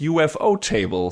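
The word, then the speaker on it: ufotable: ufu table themselves that it's actually supposed to be pronounced UFO table so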